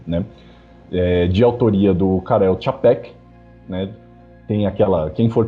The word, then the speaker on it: Čapek: já me instruiu que aquele acento circunflexo pronuncia-se como se fosse um TCH, tipo Čapek, né?